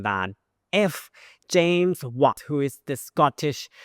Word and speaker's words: James: If he was born on the same day with James, what? Let's call him James. But the way that Thai pronounce words, we don't pronounce the last consonant so much.